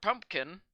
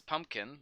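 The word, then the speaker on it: Pupkin: It's about a man named Rupert Pumpkin. Don't mispronounce it as Pumpkin like everyone else does in the movie. Lots of people get the name wrong.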